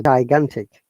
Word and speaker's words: gigantic: to this eye giant but gigantic look ga first g soft g second g is hard g so gigantic gigantic what does giant